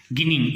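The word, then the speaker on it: ginning: Number 1 process is गिनिंग. इसको जिनिंग भी बोलते हैं बच्चों और गिनिंग भी बोलते हैं. Both the pronunciations are right. जिनिंग बोलो या गिनिंग बोलो, बोथ आर राइट.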